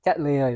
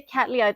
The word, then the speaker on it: Cattleya: you pronounce this yeah cat Lea is the yeah the way I've I've been saying cat Lea but it sounds better when you say catala yeah it rolls it